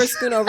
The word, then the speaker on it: Schoonover: School's over, Schoonover.